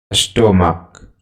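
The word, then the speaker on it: stomach: जैसे स्टोमक, स्टोमक तो स्टोमक में अंतिम उच्चारण क्या है? ch का क, इसलिए यहाँ es नहीं s होगा, स्टोमक्स।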